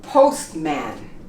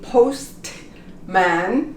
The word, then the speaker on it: postman: the T in English how about postman we don't say post man we say postman and this is the